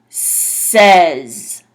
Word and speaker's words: says: stay home this one even though it's spelled similar the a makes like a sound like an e so this one is pronounced says so it's a sound